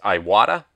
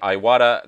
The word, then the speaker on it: Iwata: the brand is I'm not sure how to pronounce this, so I'm sure I'll screw it up. It's Iwata.